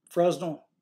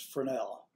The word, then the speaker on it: Fresnel: I've been calling these types of lenses Fresnel, but I believe the correct pronunciation is Fresnel.